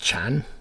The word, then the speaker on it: Can: But it means life or soul in Turkish. I believe it's pronounced Chan. I might be wrong.